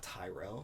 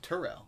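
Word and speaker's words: Terrell: give him jordan and we're gonna tyret not tyrell it's turo turel yeah so t-e yeah like uh i thought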